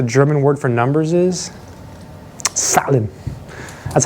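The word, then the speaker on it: Zahlen: know what the German word for numbers is salad that's how you say this a sound scary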